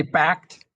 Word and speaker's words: BACD: Is it We just basically just say backed.